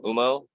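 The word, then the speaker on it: Humo: but this is uh from UMO it's spelled umoto h-u-m-o uh it's a group they're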